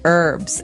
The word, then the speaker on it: herbs: Actually, you can say herbs. It's a very British thing to do, though. Americans and Canadians say herbs. It has an H in the front. That's why it's confusing. Okay, so we can accept basically if somebody says herbs, but I guess in American English it's more commonly pronounced as a silent H.